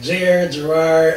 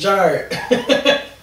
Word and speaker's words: Jharid: It's Jharid, and people always say like Jharid.